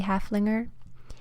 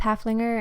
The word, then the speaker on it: Haflinger: So I looked it up and it seems to be Haflinger, like I thought. So I'm just gonna go with Haflinger and hope that you guys will understand what I'm talking about.